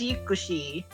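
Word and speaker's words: ユクシー: Like Yuxi, we pronounce it as Yuxi because I suppose its Japanese name is actually pronounced as Yukushi.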